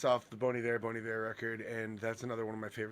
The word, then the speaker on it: Bon Iver: So I was today years old when I realised you don't pronounce it Bon Iver. Yeah, Bon Iver. That sounds Even I so knew much that. nicer. It's like it's French.